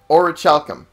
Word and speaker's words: orichalcum: No, you don't have it, but so I know how to pronounce it. Orichalcum.